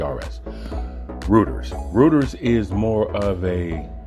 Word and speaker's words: Reuters: snoops and there's um Reuters I hope I pronouncing that one right it's r e u t e RS rooters rooters is more of a social media fact